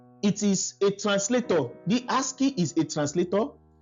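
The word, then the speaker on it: ASCII: So now if you if you want to pronounce it you can pronounce it as h has key as key as keyi.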